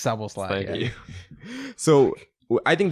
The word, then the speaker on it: Szoboszlai: That's how you say his name, Szoboszlai. It's Szoboszlai.